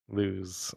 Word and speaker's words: Luz: I can't help but pronounce it lose, though. Lose. Well, that's the way the name is pronounced.